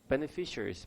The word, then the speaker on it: beneficiaries: I myself and one of the biggest beneficiaries. Beneficiaries 여러분 외우셨죠? 뭐라고? 수혜자. 오케이. 혜택을 입은 사람 수혜자. 강세가 어디 있나요? Beneficiar. 그냥 FIARY가 아니라 이것까지 발음하셔야 돼요. beneficiary예요. beneficiaries. Beneficiaries. 그리고 항상 강조하지만 one of 하는 거 애들 되게 좋아하죠.